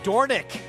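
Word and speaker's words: Dornoch: whole race racing world's been saying it wrong it's dorick named after one of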